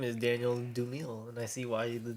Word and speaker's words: Dumile: Doomil. Like Doom. Oh, that makes sense. Yeah, right. I thought it was just because he liked Doom. Even though it's spelled like Dumile, but Doom.